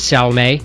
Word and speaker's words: Salme: No, I've always been told the pronunciation is Salma.